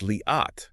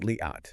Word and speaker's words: Liat: It's Liat, Yes. not Liat.